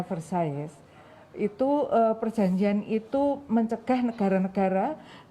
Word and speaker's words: Versailles: mengeluarkan Perjanjian Versailles ya atau Versailles ya katanya bacanya Versailles itu perjanjian itu mencegah negara-negara untuk mengekspansi wilayah